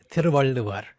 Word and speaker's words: Tiruvalluvar: Can you say the poet's name again, or the author, the poet of the Kural is Tiruvalluvar, which of course is quite a mouthful.